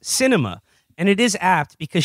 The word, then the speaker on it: Sinema: um says here the arizona senator's name is pronounced cinema and it is apt